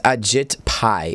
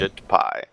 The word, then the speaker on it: Ajit Pai: I think it's Ajit Pai is how you say his name. Ajit Pai.